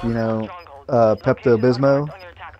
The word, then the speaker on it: Pepto-Bismol: like you know uh Pepto-Bismol I used to call it Pepto Gizmo that pepto-glismol let's do